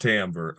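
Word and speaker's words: timbre: tamber or the tone I know it's spelled with an i it's pronounced tamber um that would be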